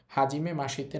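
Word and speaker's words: はじめまして: Normally হওয়ার কথা ছিল হাজিমে মাসিতে। কিন্তু এটা হবে না। এই শব্দটার উচ্চারণ হবে হাজিমে মাসতে। ইটা বাদ যাবেশি থেকে। হাজিমে মাসিতে না হয়ে হবে হাজিমে মাসতে।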